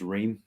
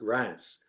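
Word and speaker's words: Reims: France who to join uh I think it's rain okay congrats is it no not not wrong not Ren's ring no it's called It's pronounced Rance it's the champagne country oh yeah I know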